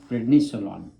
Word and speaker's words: prednisolone: Which How you pronounce that again? prednisolone.